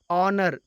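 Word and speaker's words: honour: है next example है ऑनर इसमें भी साइलेंट है और इसका उच्चारण भवेल की तरह हो रहा है इसलिए ऑनर के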